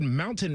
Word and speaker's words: mountain: If I was doing a presentation and the word mountain happened to be in there, I would pronounce the T. If I was at a paid engagement with a suit on, I would probably pronounce the T. So if I'm talking to me and you, just here on the show, I would be like mountain. Soft T is fine.